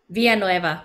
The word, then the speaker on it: Villanueva: Villanueva. Mm-hmm. Villanueva. Thank you. I have to learn more Spanish to pronounce it correctly.